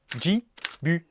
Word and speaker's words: Ghibli: Ghibli. Je m'excuse pour l'accent, mais bon voilà, on y retrouve effectivement la prononciation à la japonaise.